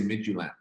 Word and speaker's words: Midtjylland: It's known to be the club with a name no one can pronounce. So don't feel bad about that. It's called FC Midtjylland. Midtjylland, okay.